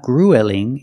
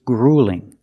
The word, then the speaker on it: grueling: uel we don't say it's not grueling it's grueling use the long u plus the light L grueling it's grueling is